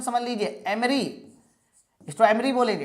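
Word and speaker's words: emery: इसके अलावा क्वार्ट्स के पत्थर, कैल्शियम कार्बोनेट, कोरंडम, एमरी, इसका प्रोनाउंसिएशन समझ लीजिए एमरी, इसको एमरी बोलेंगे।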